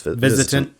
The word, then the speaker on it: VISITANT: Is that how you pronounce it right? VISITANT? I believe so. Yeah. That's VISITANT.